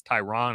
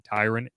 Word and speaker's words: Tyrann: Tyrann Mathieu has had his name said wrong for years. Everyone has their own way. It's Tyrann, it's Tyrann, it's Tyron. It's actually Tyrann, but like everyone's kind of accepts it.